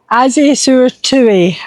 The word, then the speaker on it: Azay-sur-Thouet: As a sur toit is how you Yeah, toit. That's how it's pronounced.